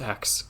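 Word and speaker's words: X Æ A-12: this name and then Grimes responded it's just ex like the letter X yeah but then the AI is X ash 8 she says it's X like the letter X then a I like how you say the letter a and I so they're saying that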